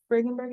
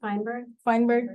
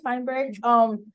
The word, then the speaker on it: Feinberg: Well, Leslie Bergenberg, that's how you say her name? Feinberg, thank you. Leslie Feinberg, she's a LGBTQ activist and she's an advocate for poor people.